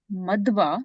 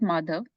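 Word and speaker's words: Madhva: G sorry yeah so you have to say it correctly Brahma madwa not madav madwa because it's Madara Brahma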